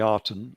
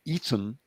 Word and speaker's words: Aten: because their god was the Arten, or the Eton would be a better pronunciation, who had a sacred